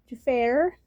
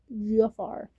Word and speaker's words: Jaafar: His name is not Jafar or I've heard you defeat her. It It No, it's pronounced as Jaafar, just like in Aladdin.